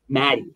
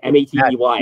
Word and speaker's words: Matey: Maddie, M-A-T-E-Y. It's pronounced as though there's two T's, but yeah, it's like Croatian originally or something. It sounds like it should be the pilot term, Matey, but no, it's Maddie.